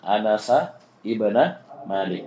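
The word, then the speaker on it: أنس بن مالك: Kalau ada ibn setelahnya jangan ditanwin. Saya ulangi nama tanwin misalnya Muhammadun, Anasun ya dan seterusnya. Kalau ada ibnnya setelahnya maka jangan ditan ditanwin. Jadi bacanya anasabna malikin. Anasa ibna malik.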